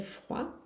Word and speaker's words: froid: Il fait froid. Aqui o T do fait não se pronuncia, o D do froid não se pronuncia.